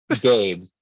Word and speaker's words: GABES: Gabus. And it's Do it's you mine. pronounce Oh, that well, let's say Gabus? GABES.